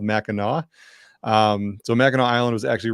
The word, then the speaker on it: Mackinac: lately, is Mackinac Island, not to be confused with Mackinac. That's not how we pronounce it here. It's called Mackinac.